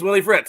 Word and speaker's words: Willie Fritz: Former Tulane head coach, and I want to make sure I'm not saying his name wrong because that would be very embarrassing. Is it Willie Fritz? Yes, it's Willie Fritz.